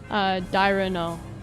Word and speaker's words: Dairanger: Dairano, I think is how it's pronounced.